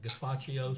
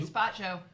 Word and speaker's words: gazpacho: Uh I'm going to tell you what we're eating tonight and we're having just I can't pronounce it. Gaspacio soup. Gaspacho.